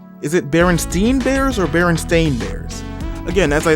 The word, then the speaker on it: Berenstain: was how everybody was saying Berenstein bears when the books clearly said Berenstain but I've always remembered it as Berenstain but I've always remembered people saying Berenstein and I've always remembered wondering why they're saying it wrong and I think it's